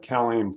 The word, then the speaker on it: CalAIM: are going to get CalAIM funding to help house low-income people. Cal, And how do you spell that? CalAIM, it's well, it's basically CALAIM like Mike.